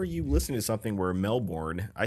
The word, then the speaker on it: Melbourne: And they both were like, oh yeah, we went to Melbourne over the summer, and they told us it's not pronounced Melbourne, it's pronounced Melbourne.